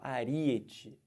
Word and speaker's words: aríete: uma palavra proparoxítona beleza aqui ó aríete Ariete Ariete eu tô falando